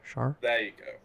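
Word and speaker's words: Schär: the right one um how do you pronounce his name uh Shar share char char you got it Fabian sharp in this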